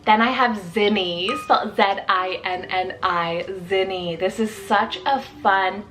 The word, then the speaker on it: Zinni: name meaning Sun then I have zinni's z-i-n-n-i zinny this is such a fun peppy said name